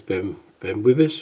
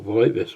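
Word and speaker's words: Ben Wyvis: In the distance there, and shrouded in mist, a little over 3,000 feet high, is Ben Wybis or Wybis, whichever way you want to pronounce it.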